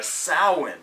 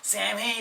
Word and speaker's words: Samhain: in this song is he mispronounces uh samhain the whole time he's just sam hey sam hayne and i'm like dude dude